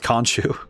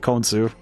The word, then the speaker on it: Khonsu: I just thought about the fact that there are 2 different games that have 2 different pronunciations of it, because Marvel Rivals, I think they say Khonshu, and then this game they say Khonsu.